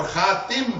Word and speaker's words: خاتم: خاتم اسم العالى or khatim, both pronunciation.